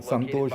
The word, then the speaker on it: Santosh: it actually goes rhymes with my actual name. Santosh is my actual name, so that means happiness.